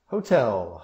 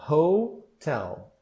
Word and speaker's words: hotel: Hotel. Hotel. E a sílaba tônica é a segunda. Isso geralmente tem um problema. Não é hotel, mas é hotel.